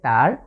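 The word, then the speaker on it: تاء: আবারও খেয়াল করুন, জিভের আগা সামনের যে উপরের দাঁত আছে তার গোড়ার সাথে লাগিয়ে, তা তা।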